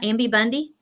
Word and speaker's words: Ambi Bundy: Am I saying her name right? Ambi Bundy? Yes, ma'am. Okay. It's like Bambi Nay.